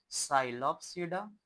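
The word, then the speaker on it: Psilopsida: दूसरा है हमारे पास जो हम कहते हैं साइलोप्सडा। साइलोप्सडा। याद रखिएगा इसमें पी साइलेंट रहेगा।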